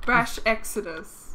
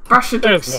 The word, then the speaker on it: Brash Exodus: Brash Exodus. Brash Exodus.